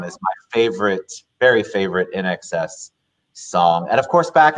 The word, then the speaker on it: INXS: I mean, I've learned over time that's NXS, but you know, nobody knew how to pronounce it unless you learned.